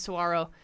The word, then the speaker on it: saguaro: And then the pronunciation is saguaro.